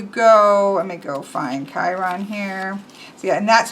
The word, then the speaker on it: Chiron: In Greek, it sounds much more like Huron.